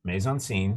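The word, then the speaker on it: mise en scène: all this come down to this play has Maison scene right stuff in the scene maze is spelled m-i-s-c sort of a French way of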